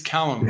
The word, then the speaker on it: Calame: It's Callum, by the way.